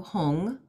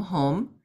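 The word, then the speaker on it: Hum: The third syllable down is a blue hung, or H-U-M, home.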